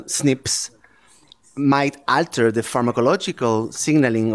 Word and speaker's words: SNPs: paper about how single nucleotide polymorphisms pronounced snips might alter the pharmacological